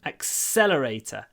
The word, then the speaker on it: accelerator: accelerating remember pronunciation accelerator the Str press is on the second syllable so what do we do we make the S really long accelerator accelerate accelerate okay next